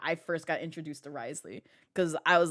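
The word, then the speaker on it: Wriothesley: Risley's name is Risley. I've been calling him Riosley when I tried to pronounce his name.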